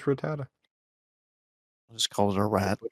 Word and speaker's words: Rattata: I've heard people say Ratata instead of Ratata. Yeah, I would say Ratatata. That's funny. Yeah, it's just Rattata.